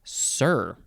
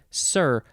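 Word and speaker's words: cere: Next we have sir. I think that's just how it's pronounced. It is spelled C-E-R-E, sir, first form.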